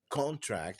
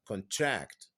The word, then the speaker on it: contract: contract يبقى هنا كلمه contract as a noun the stress falls on the first syllable. okay. هنا الستريس كانت على المقطع الاول، لكن في لما تستخدم كفعل باسمها contract the stress is on the second syllable.